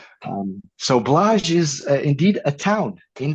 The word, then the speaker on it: Blaj: Um, so blah is indeed a town in Transylvania. And that's a perfect pronunciation.